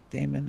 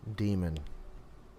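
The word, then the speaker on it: daemon: It's just like a Python 3 demon though, so I feel like it's not Damon. I don't know what it's pronounced. Um, demon. Okay.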